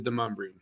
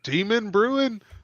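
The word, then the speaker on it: Demonbreun: But it is Demumbrian. Demon Brewing? Not Demon Brewing.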